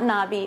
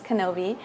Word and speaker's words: Knobbe: It's Knobbe Martens, Olson, and Bear. It's a handful. But just remember, it rhymes with, it sounds like Obi-Wan Kenobi. Okay, it's not Knobbe, it's Knobbe.